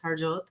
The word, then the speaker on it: Harjot: Yes, that is how you pronounce it. It's Harjot.